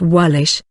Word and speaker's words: Waelisk: than the names being derived from the Old English Waelisk, pronounced Wallish, meaning foreigner or Welshman.